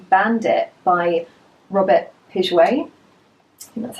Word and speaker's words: Piguet: and this fragrance is called Bandit by Robert pidgeway and that's how you say it so this